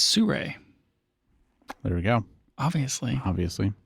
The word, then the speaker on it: Sirui: You going to pronounce the this next brand for us real quick? It's Sirui.